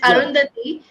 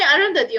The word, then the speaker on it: Arundhati: people call you by I think the pronunciation is the same it's arundhati but so they call me arundhati only but sometimes when